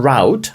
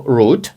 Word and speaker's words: route: Do you understand your route або root? Це слово може вимовлятися як root, так і route for today.